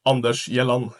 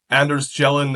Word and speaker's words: Anders Gjellan: to fit with gopal today I'm joined by Anders shelin is that how you say your name well if you want the perfect pronunciation it's Andes yon in Norwegian but I don't think I've had